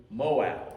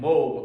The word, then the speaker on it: Moab: Lord giving attention to Moab, or Moab, depending on on how you want to pronounce it.